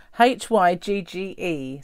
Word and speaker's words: hygge: this oh hang on hygge it's got like little thing at the bottom because it's h-y-g-g-e so who'd have thought that that would be hygge but look at that